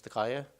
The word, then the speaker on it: Takaya: I think phonetically as Takaya, but it's officially known as Takaya.